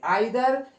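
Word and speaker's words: either: इसको ईदर और भी पढ़ते हैं, इसको नीदर नोर भी पढ़ते हैं। आइदर या ईदर, नीदर या नाइदर, कुछ लोग इसको दोनों तरीके से प्रोनाउंसिएट हम कर सकते हैं।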